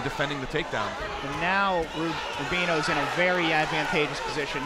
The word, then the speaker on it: Rubiano: Single leg attempt, and Rubiano, you got me messed up on that name. He is just... Rubino.